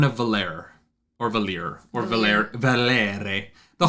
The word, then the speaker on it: Valere: And we get the Horn of Valer, or Valir, or Valere. The Horn of Valere. You have to say it like that every time.